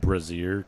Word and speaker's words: brazier: eternal flame and the oceanic urn uh it's pronounced brazier dude more tell me about the jade octahedron